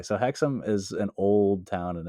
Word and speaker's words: Hexham: Can you think of a spookier town than Hexom?